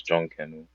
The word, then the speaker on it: John Canoe: His name is John Canoe. Just look Junk, into Junkin, John Canoe. spell it. Yeah, Spell it. John like John, and Canoe Mm-hmm. like the little boat.